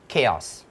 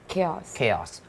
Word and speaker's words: chaos: pronounced blah blah blah blah blah นึกออกไหมมันมีคำหนึ่ง I mispronounce this word all the time when I was young คือคำว่าอะไรรู้ไหม chaos chaos เพราะพี่เห็นว่ามันเขียนว่า ใช่ chaos ตอนเด็ก ใช่ เราก็อะไร chaos จริง